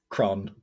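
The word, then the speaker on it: crann: tree in irish uh very simple word it's cron cron yeah that's cool that is very cool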